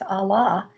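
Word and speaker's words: אָלָה: refers to that but if you pronounce it out in the Hebrew it's Allah the curse devoured the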